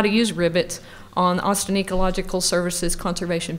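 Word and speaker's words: RIBITS: bank information tracking system and yes it is pronounced rivets and that's a database that has uh all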